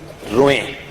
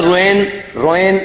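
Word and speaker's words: Rouen: म्हणजे त्या शब्दाचा उच्चार कागदावर या रोहे स्पेलिंग आहे आर ओ इ एन आपल्याला जर इंग्लिशची सवय असेल तर आपण उच्चार रोएन असं काहीतरी करू पण फ्रेंच भाषेमध्ये हार्ड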